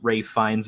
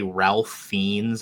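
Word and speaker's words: Ralph Fiennes: and I appreciate that bow pronounced Ray finds his name correctly because nobody else does they always say Ralph fiends and it drives me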